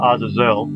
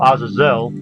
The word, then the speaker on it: Azazel: by the way actually has a character called Azazel which is why I put him here because